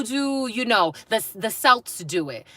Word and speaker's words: Celts: I knew that I was mispronouncing Celts, but I was waiting for somebody to correct me.